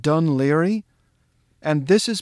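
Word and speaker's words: Dún Laoghaire: how that's pronounced they'll say balikley this is pronounced dun leary and this is pronounced finn mccool i kid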